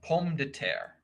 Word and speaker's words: pomme de terre: In the French, it's pronounced pomme de terre, apple of the earth, is the literal translation.